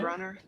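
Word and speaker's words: Gruner: Is that his job to hunt down This is our main man right here, Olivier Grunier? Grunner. Grunner? That's the French Very French.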